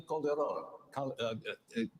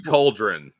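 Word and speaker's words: Calderón: co-moderators, Fox News Channel Dana Perino and Ilya Calderon, Univision. Just say it like a white person, man. Ilya Calderon. Shut up. Why do Ilya Cauldron?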